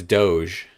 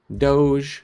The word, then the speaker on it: Doge: dollars dog box dog is that how that's pronounced i just thought it was dog it's doge yeah no yeah no no doge it's from uh homestar